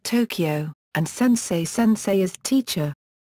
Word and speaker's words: とうきょう: For example とうきょう (lit. toukyou) is pronounced 'Tokyo', and せんせい sensei is 'teacher'.